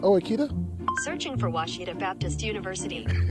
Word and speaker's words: Ouachita: Searching for Washita Baptist University. Back in Texas, everybody pronounces it Wichita, but really, it's Washita.